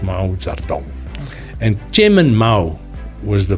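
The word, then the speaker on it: Mao Zedong: but you you actually write it but it's pronounced Mao zardon and German Mao was the father of the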